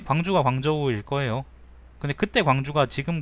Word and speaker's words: 광저우: 우돗을 벗고 몸을 드러내 맞이한 거는요, 예, 광주가 광저우일 거예요. 근데 그때 광주가 지금 광주하고 똑같은 건지는 모르겠다. 발음은 광주가 광저우입니다.